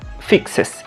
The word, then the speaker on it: fixes: Si tú vas a utilizar verbos que terminen con S, CH, SH, X o Z, la pronunciación de la ES es como tal, una ES. For example, in the case of fix, su pronunciación va a ser fixes y se va a escribir con ES, fixes.